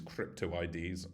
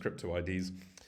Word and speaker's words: crypto IDs: and we call these crypto IDs which very confusingly reads like cryptoid in a chat room but it's pronounced crypto IDs and um this is